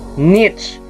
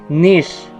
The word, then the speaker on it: niche: nich n n Whatever in American english nich p British English naman nish Anyway kahit anong pronunciation